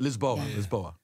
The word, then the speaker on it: Lisboa: Lisboa. That's how you say it in Portuguese.